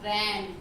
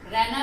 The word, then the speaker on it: रैना: हाँ, तो मैना, रैना, रैना माने रात, रैन, ठीक है। तो वैसे तो इस मात्रा का सही उच्चारण अगर हम करते हैं तो मैना नहीं बोलेंगे, हम इसे मैना बोलेंगे। रैना नहीं बोलेंगे, हम इसे रैना बोलेंगे।